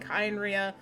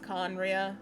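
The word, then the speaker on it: Khaenri'ah: So could it be a god of Kynria? I don't know. I'm gonna try to correct part of my pronunciation, but it's Kaya's damn voice actor. So I usually end up saying Kynria, but it's Conria.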